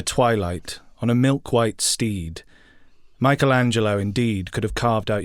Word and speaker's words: Michelangelo: His name is pronounced Michelangelo. Michelangelo. It's because it's the Michael. It doesn't change the stresses in terms of syllables.